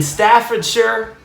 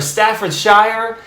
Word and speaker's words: Staffordshire: joyride all the way across the pond in staffordshire or staffordshire i want to sound fancy when i say